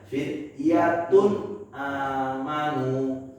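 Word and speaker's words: فتية آمنوا: Maka kita bacanya harus jelas bunyi n-nya. Fityatun amanu. Fityatun amanu. Jangan dijalanin. Fityatun nggak boleh.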